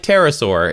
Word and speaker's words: pterosaur: P But like like pterosaur, it's just Yeah, the P is silent.